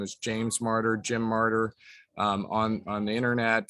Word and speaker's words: Marter: So Marter, M-A-R-T-E-R, pronounced like the martyrs in the Bible, but not with the Y.